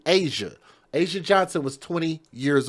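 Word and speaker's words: Azsia: and killed Asia Johnson, and her name is spelled in a unique way. It's A-Z-S-I-A, Asia.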